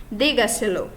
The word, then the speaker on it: dígaselo: O acento tônico se encontra na quarta sílaba a contar de la última. Então, no caso, ele é uma sílaba mais forte depois da antepenúltima sílaba, depois da esdrúxula, digamos assim.